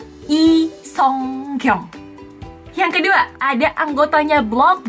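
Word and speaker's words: Lee Sung-kyung: Pertama dari marganya, yang aku bilang bukan Lee, tapi I. Bukan Sung, tapi Song. Di Korea bacanya Song. Yang terakhir juga bukan Kyung tapi Kyung. I Song Kyung.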